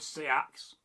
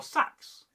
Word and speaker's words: seax: And I love a good seax or sax, depending on how you pronounce it.